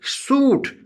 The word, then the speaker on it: suit: Suit, S-U-I-T, suit, I is silent.